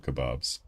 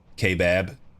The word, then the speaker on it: kebab: I love kebabs. Are you in uh are you uh where you from, Frost? Roundabouts. Where's that Where's that kebab sauce at? Ship it to me. Kbab. Pronounce it kebab.